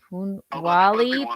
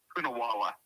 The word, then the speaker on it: Poonawalla: Poonawalla. Matt. Let's see. I mean, she's like a chameleon there. She almost blends in with everything. Poonawalla. You can't see her. Okay, Natasha. Yes. Oh, it's literally spelled phonetically.